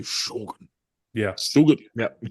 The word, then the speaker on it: Shōgun: I have to say Shogun. Yeah. Still good. Yep. You can't say Shogun. Yeah, Yeah. no, It sounds that's weird. Shogun. It's the Shogun. accent on the O.